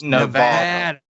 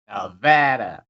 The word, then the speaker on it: Nevada: No, Nevada. You're saying it wrong. It's Nevada. Nevada. Yeah, like that.